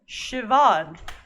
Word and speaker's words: Siobhan: Talk to Abed about Siobhan is how you pronounce this name.